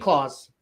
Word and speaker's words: Claus: Oh, JD says pronounce Claus. Thank you, JD. JD Claus, like Santy. Yeah. Like Santa Claus.